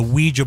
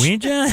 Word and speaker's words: Ouija: The one I thought that would get everybody is the Ouija board.